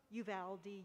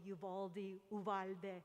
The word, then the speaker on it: Uvalde: this debate of no it can be pronounced you've aldi yuvaldi all those ways that's okay that's part